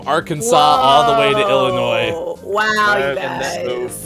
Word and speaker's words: Illinois: It's like Illinois. It's the same thing. Oh, that's right. So there's an S and you don't pronounce it, or you do, and then people look at you like you're weird.